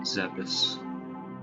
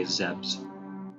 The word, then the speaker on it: Zebes: Planet Zebes. How do you guys pronounce it? I usually say Zebes, or if I'm feeling rather particularly ballsy, I'll say Zebs.